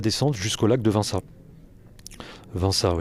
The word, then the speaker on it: Vinça: Vinça, je crois qu'on le prononce comme ça.